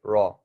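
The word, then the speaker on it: ر: for them to understand the letter raw like raw fish that's exactly how you say it raw ra raw right but don't don't make it sound like raw raw like a a English word uh have it sound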